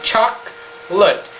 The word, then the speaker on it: chocolate: The word chocolate in Portuguese is 4 syllables. When it goes to English, it becomes 2. We say chocolate.